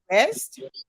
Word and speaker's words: ARREST: So let's delve into how the Unity Party government plans to achieve the goals of, how do you say the acronym ARREST?